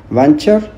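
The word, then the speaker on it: venture: वेंचर, वेंचर है तो इसमें देखो टी साइलेंट है। वेंटर पढ़ लो, प्रोनाउंसिएशन तो वेंचर होती है इसकी।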